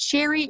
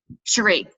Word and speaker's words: Cherie: And Shelby, I know you and, is it Sherry or Cherry? How am I saying your name wrong? I want to make sure I'm saying your name right. I'm bad with names. Maybe Cherie. Cherie. Thank you.